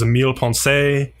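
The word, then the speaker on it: Millepensée: The studio is Emile Ponce. I'm pronouncing it the French way, but who knows how the Japanese actually pronounce it.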